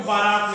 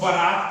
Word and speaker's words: बरात: हो रहा है बाबा लेकिन इसी के उच्चारण की गलती के कारण लोग बारात कहते हैं क्या कहते हैं कि हम प्रांत में जाना है तो यह जो बरात होगा बेटा यह जो आपका बरात है ठीक है यह सही